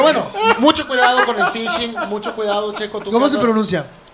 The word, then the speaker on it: phishing: Pero bueno, mucho cuidado con el phishing. Mucho cuidado, Checo. tú ¿Cómo que se andas- pronuncia? Phishing. Lo que pasa es que es PHISHING. Ah, ok. De fish. Fish.